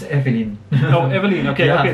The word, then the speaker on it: Eveline: That's Danella, and for the last, Indonesian Next Top Model, can you pronounce? Eveline F? Yeah, it's Eveline.